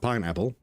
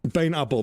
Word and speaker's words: pynappel: pain and apple, but but it sounds more like pineapple. Yes, pineapple, but it is spelled Pynappel.